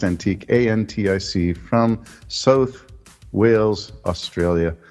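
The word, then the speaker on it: Antic: he's a senator I think his name is antique it's pronounced antique a-n-t-i-c from South Wales Australia yeah he got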